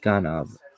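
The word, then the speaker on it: גנב: The original Hebrew word with the root G&V pronounced ganab appears numerous times in the Bible like a thief in the night baby in the 10 pronouncements.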